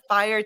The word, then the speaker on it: F1RE: how are you good I'm sorry did I pronounce everything right is it the fire team is that how you guys pronounce at